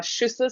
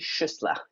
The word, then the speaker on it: Schüssler: So welcome to our Schüssler salts. Yes, it is quite interesting how we pronounce that. It is Schüssler, yeah.